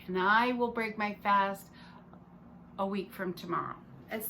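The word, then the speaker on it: phở: vietnam um is they they make p-h-o and it's pronounced fa and the cool the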